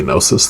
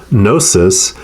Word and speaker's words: gnosis: No, it's probably Gnosis. The G is probably silent, right?